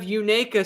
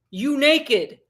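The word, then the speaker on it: Unaka: and he said he he said you say it like you naked you naked springs that's how you remember it you naked you naked i'll never forget that so that's the time i got schooled by a local and he told me how to remember it he said it's like you're saying you naked so you naked springs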